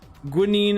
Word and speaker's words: guanine: Guanine is usually how you say it.